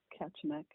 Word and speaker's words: Kachemak: I want I want to make sure I pronounce Ketchmeck correctly. Am I saying it right? Yep. Catchmeck.